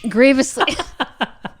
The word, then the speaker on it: grievously: Grievously. I just guessed on that word. I don't remember how it's pronounced. Grievously. Like General Grievous from Star Wars Episode 3, Revenge of the Sith.